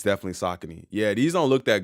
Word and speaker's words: Saucony: those a lot man thought they were uh pronounced saone yeah man that's that's that's something that we've